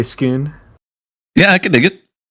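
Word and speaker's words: Scone: whatever SK skon it's spelled like skone but they say skoon yeah I can dig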